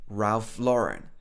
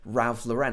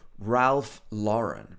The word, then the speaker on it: Ralph Lauren: Some people would say Ralph Lauren. I don't know why so many people in the UK say Ralph Lauren, but actually, probably this should be Ralph Lauren, right?